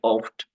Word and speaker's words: oft: ইস জগে অফট। অফট মানে হলো প্রায়। অফটের উচ্চারণটা হলো ইংলিশের মতোই প্রায়, ও এফ টি অফট।